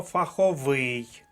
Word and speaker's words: фаховий: склад далі непросте слово фаховий третій склад третя колонка може бутифах